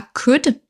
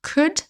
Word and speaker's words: could: On passe à could. Donc là, ne prononcez pas le L, attention, on dit bien could et pas could.